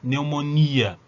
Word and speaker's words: neumonía: Neumonía también lleva tilde, ¿no? Entonces en este caso sí, yo tengo la tónica, yo tengo esta I tónica, miopía, neumonía.